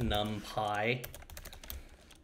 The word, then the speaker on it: NumPy: array num pi array you know the way you would pronounce it num pi so we'll want to